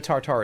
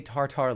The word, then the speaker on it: tartare: Tuna tartare is sushi.